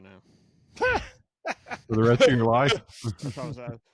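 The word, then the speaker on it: phở: is this pH o it looks like fo fo but how is that how it's pronounced Chinese food is that pronounced no idea yeah it's like or Taiwanese or something like that kind of food you had it you had it I'm thinking it's kind I'm gonna guess it's kind of like Ramen it's Vietnamese and it's pronounced F fo what is it nood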